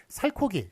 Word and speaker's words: 살코기: 살코기, 살 플러스 고기인데 살코기로 발음되는 거 보면 히읗이 들어가 있네요.